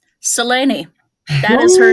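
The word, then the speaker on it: Selene: Yes, I pronounce it with three syllables. Come and fight me at the gallow. Seleni, that is her name.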